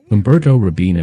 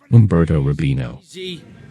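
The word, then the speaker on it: Umberto Robina: introduction of this Mission Umberto rabina mispronounces his name as Umberto Rabino what's your problem they're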